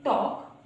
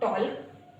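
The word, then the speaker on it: talk: काम यानी कि शांत, इसको पढ़ेंगे टॉक नॉट टॉल्क यानी कि बातचीत, वॉक नॉट वॉल्क यानी कि चलना, कुड सकना, शुड चाहिए, साम प्रार्थना, वुड गागिए।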